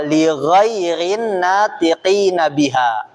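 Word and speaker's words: لغير الناطقين بها: Lighhairin natiqina biha. Lighhairin natiqina biha. itu bacanya ibu-ibu tuh yang di bawahnya di judulnya lighairin naqina biha artinya untuk non Arab gitu.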